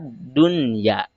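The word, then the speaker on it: دنيا: Dunya itu hukum membacanya meskipun harusnya kan nun sukun menghadapi ia termasuk ke dalam idgham ma'al gunah, tetapi ketika ada nun sukun dan ianya atau huruf idghamnya terdiri dalam satu kalimat, maka hukum membacanya harus dibaca izhar. Tidak boleh dibaca idgham ma'al gunah, tapi harus dibaca idhar.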